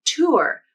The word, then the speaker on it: tour: I think tour with the OOR R-colored vowel is the most common pronunciation.